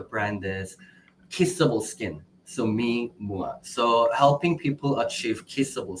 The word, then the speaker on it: MeMua: But it's pronounced Mimua, but Mimua. It's a combination of two words, mi and mua.